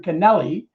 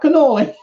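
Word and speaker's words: canali: have been familiar with the term canelli not cannoli that had been used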